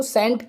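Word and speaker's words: scent: के मीनिंग में देखें एस सी ई एन टी तो मैंने क्या बताया एस के बाद में सी आएगा तो सी क्या होगा साइलेंट तो इसके लिए क्या पढ़ेंगे हम सेंट ठीक है क्यों सी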